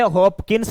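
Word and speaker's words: Hopkins: English में लिखते से हॉकिंस लिखा जाएगा यहां पर पी क्या है साइलेंट है यला ठीक है ना हॉकिंस पी यहां पर क्या रहेगा बच्चों साइलेंट रहेगा जैसे नाइफ होता है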